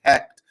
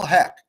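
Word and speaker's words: Hoecht: his name but i think it's pronounced hect is michael heck he was a free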